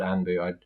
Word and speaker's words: Anpu: But in my notepad, if someone was called Anpu, I'd write because I remember it as Anpu.